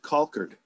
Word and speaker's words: Colcord: grandmother we always call we always pronounce it concord is it call curt all right okay yeah